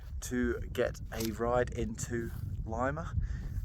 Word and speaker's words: Lima: get a ride into Lima. I don't know why they pronounce it Lima. It's spelt Lima, L-I-M-A.